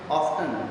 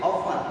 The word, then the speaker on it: often: ऑफन, अब इसको कुछ बच्चे प्रोनाउंसिएट करते हैं ऑफ्टन, नो, इट इज ऑफन, इसमें जो टी है वो साइलेंट है, ऑफन बोलते हैं इसको, ऑफन, राइट।